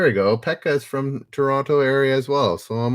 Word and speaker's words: Toronto: toronto you call it toronto if you're from toronto there's no t it's just toronto all righty ryan and